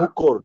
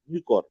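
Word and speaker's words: Mucor: মুকর নাকি মিউকর, তাই না? মুকর অথবা মিউকর যেমনি উচ্চারণ করিস, ঠিক আছে।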